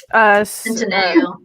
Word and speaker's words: Centineo: What I'm hoping for of like do what they did with the last one of then like I can't pronounce his last name. Noah. Centineo.